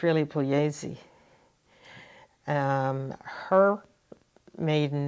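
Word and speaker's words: Puglise: the Italian way it's pesi you don't pronounce the G in Italian it's p u g l i s e a lot of people here spell it say it Pugi and in fact they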